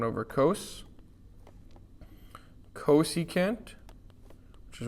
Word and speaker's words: cos: We call it cos with a long O.